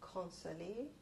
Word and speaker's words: Consolee: My name is Consolee. I can spell it Consolee.